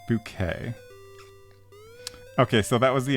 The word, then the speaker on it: Bucket: So P says, "There's an old British TV show called Keeping Up Appearances about a woman called High Bucket who corrects everyone to pronounce it bouquet."